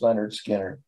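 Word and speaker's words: Lynyrd Skynyrd: with a little bit of southern rock here leonard skinner simple man from their first album pronounced leonard skinner uh this is a song depending on how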